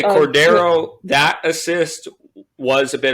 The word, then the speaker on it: Cordero: It's Cordero.